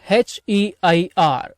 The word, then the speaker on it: heir: he is the heir, H-E-I-R. heir அப்படின்னா H அப்படின்றது silent, heir அப்படின்னு தான் உச்சரிக்கணும். வாரிசு அப்படின்னு அர்த்தம்.